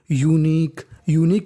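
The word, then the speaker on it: unique: आखिरी में ई है तो ई का उच्चारण नहीं करना। तो मीनिंग बन गई यूनिक का मतलब होता है अनोखी।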